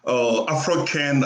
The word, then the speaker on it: Afro-Can: So it's Afro-Can. Afro is like Afro from Hmm. anybody that has something to do with Africa. So Afro from the Afro culture, from Africa, for anything that has to do with Africa.